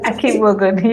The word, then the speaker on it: Akigbogun: Am I pronouncing it? Akigbogun, yes.